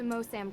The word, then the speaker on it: Moosham: I'll be going to Mosam Castle to retrieve it before I head back to the That's States. cool. I pronounced Moosham.